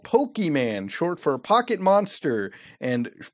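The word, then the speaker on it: Pokémon: They are called Pokemon, short for Pocket Monster, and pronounced Pokemon.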